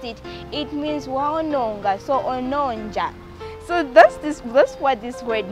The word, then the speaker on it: ononja: Ononja. Ononja is spelled as O.